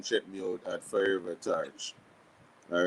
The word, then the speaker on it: Torch: It is Torch as in TORCH, and the Ever Burning Flame.